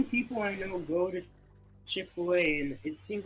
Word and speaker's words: Chick-fil-A: growing up we always I always said it wrong too chicken Phil like it just even even if you sound it out it's not how you say it I think my